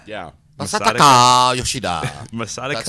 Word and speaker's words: Masataka Yoshida: Masataka Yoshida. Yeah. Masataka Yoshida.